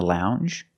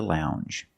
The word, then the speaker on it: lounge: the hard G longer and we have the J sound the regular n n plus the J sound Lounge lounge and another one when